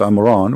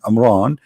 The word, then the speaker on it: Imran: the Quran Maryam she became the daughter of Amran which is the father of mooses and Muhammad even pronounce the name wrong because it's at home ROM Imran it is in law which means the last